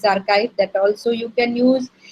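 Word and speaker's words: arXiv: This pronunciation is archive, that also you can use.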